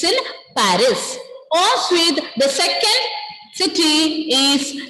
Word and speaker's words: Paris: First one is Paris. First one pronunciation is Pari. Pari. Pari. We S will be silent.